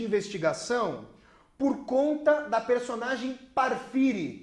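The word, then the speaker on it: Porfiry: por conta da personagem para Fire que a gente pronuncia porphyry para filha e petrov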